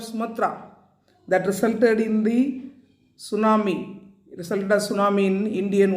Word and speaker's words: tsunami: Tsunami is a Japanese word derived from two Japanese words. Su, T is silent, mean harbor, and tsunami mean waves.